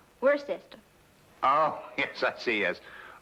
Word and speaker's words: Worcester: something else too dark but it's spelled w-o-i-c-e-s-t-e-r we're a sister oh yes I see